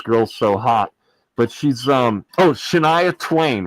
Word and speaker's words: Shania Twain: But she's Shania Twain, right? I don't know if you know who Shania Twain is. What's her way name? back in the day. Shania Twain, a country star. Shania Twain.